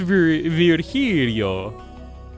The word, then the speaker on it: Virgilio: It's pronounced Virgilio. No, I'm pretty sure it's pronounced Virgilio. You said as much the last time you came.